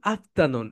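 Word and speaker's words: afternoon: Right প্রোনাউন্সিয়েশনটা একটু শিখে নাও, আপ বলো, আপ, তা, তা, নুন, আফটারনুন। এখানে একটু ধাক্কা দাও, আফটারনুন, গুড, বলো আফ, তা, নুন, good আফটারনুন, good আফটারনুন, good আফটারনুন।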